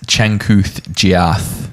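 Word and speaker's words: Changkuoth Jiath: But tell you what, boys, Chankuth Giath.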